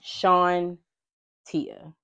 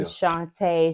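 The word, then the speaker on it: Shantia: Tia how do you if you saying it wrong I'm correcting you Sean Tia my name is spelled exactly how you said you over complicating it saying Shante Shanita putting the eye putting the eye before the te like it's Shanta so yeah Shan I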